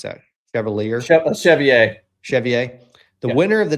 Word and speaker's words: Chevalier: So meet Darisa Avilia Cavier, whatever, however you pronounce that. Chevalier.